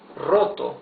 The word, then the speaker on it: roto: Roto or rotos H check out the pronunciation of the r the the r at the beginning of a word is the rough r right that is uh so difficult to pronounce in in in English so this is rotto here